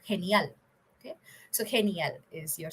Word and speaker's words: genial: Right now, in this word, G is pronounced as H.